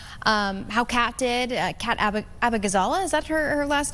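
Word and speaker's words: Abughazaleh: Kat Abagazala, is that her last name? How do you pronounce it? Abagazala, yeah, you got it.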